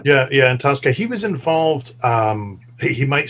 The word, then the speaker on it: Antosca: Yeah, Antosca.